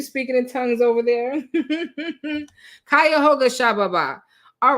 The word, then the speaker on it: Cuyahoga: Oh, somebody was texting me to help me with the pronunciation. I see all the messages. You guys are like Cuyahoga. NP, are you speaking in tongues? Okay, that's what it sounds like. Okay, Cuyahoga County.